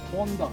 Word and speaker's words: Honda: Yeah, it's Honda. It's a Japanese name. You got to accent that.